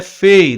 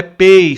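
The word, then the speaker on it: פ: Então ele é fei, não é pei sulfite, é fei sulfite.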